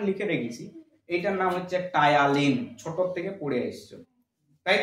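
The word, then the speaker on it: Ptyalin: এবার তুমি বলছো স্যার বানানটা তো টি দিয়ে মানে উচিত ছিল, আরে বাবা নিউমোনিয়া বানানটা কি দিয়ে শুরু হয়, পি দিয়ে শুরু হয়, তো সেরকম এখানে টায়ালিনটাও পি দিয়ে শুরু হয়েছে, পি দিয়ে, ঠিক আছে।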